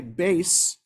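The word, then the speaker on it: בית: And remember, in the old Ashkenazi way of pronouncing Hebrew, the letter tuf without a dot is pronounced as an S. So that would be Beis Yaakov.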